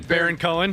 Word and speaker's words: Baron Cohen: Baron Cohen.